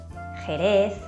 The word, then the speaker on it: Jerez: La J tiene un sonido fuerte que no existe en muchos idiomas y se pronuncia como una H aspirada. Palabras como Rioja, Jerez, Verdejo, joven y Jumilla son ejemplos donde encontramos este sonido.